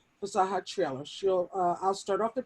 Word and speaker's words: Fasaha: And my co-author, her name is actually pronounced Fasaha, Fasaha Traylor.